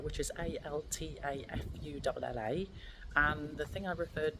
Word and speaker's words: Altafulla: So a little correction, it's pronounced Altafulla, which is Altafulla, and the thing I referred to, or the